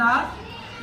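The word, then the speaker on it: hour: तो हाफ बोलते हैं, हाफ एन आवर, इसमें एच साइलेंट होता है।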